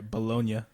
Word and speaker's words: bologna: There's yeah. a G in there. Bologna. That's actually how it was originally pronounced. Bologna. And then the Americans, the American English, it evolved to just call it bologna.